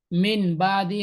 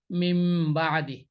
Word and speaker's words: মিম বাদি: অর্থাৎ মিন বাদি না হয়ে সঠিক উচ্চারণ হবে এখানে মিম বাদি। অর্থাৎ মিন বাদি না পড়ে এটাকে মিম বাদি পড়তে হবে।